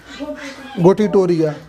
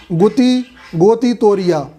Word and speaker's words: गोटीटोरिया: गोटीटोरिया। किताबों में लिखा होगा गोती तोरिया, है ना? काहे कि वो मध्य प्रदेश नरसिंहपुर के नहीं तो उनका प्रोनाउंसिएशन गलत होगा, लेकिन अपना प्रोनाउंसिएशन गलत नहीं होगा।